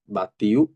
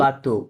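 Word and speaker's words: bateau: pied, হ্যাঁ আপিয়ে, তারপরে বাতিউ, বাতেও, বাতো, বাতো, কি হবে বাতো, বাতো, রাইট বাতো, বাতো, ট্যাক্সি, তাক্সি, কি বলে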